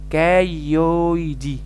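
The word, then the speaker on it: cailliaudi: تحس انت معوق، ما الايه اي بتنطق ايه والايه يو بتنطق او والاتنين ال سايلنت، تبقى كايويدي، كايويدي ليمنيا كايويدي.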